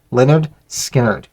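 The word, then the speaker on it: Lynyrd Skynyrd: right behind it the debut of Leonard skinnard pronounced Leonard skinnard um another one that I just absolutely love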